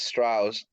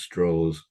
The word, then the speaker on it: Strauss: Oppenheimer like for Louis Strauss and then for the role of Ken yeah correction it's pronounced straws oh see we we